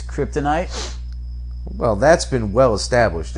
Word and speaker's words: kryptonite: ultra humanity theory i have no time telling pronunciation it's the humanity human night humanity really so it's cryptanity no dummy it's kryptonite well that's been well established and it said